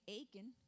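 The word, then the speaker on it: Achan: that you should know the name aiken that rhymes with bacon the name itself means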